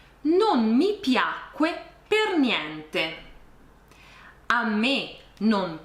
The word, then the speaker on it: piacque: Questa è la forma corretta, piacque, anche se in realtà nella pronuncia non c'è nessuna differenza tra piacque con la C e piacque senza C.